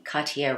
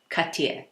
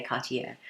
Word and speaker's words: Cartier: ribbon by the way I'm pretty sure I'm pronouncing Cartier wrong apparently I think you're supposed to pronounce it more like cut you but my French viewers please correct me if I'm wrong but yeah that's I think that's apparently how you pronounce it but you know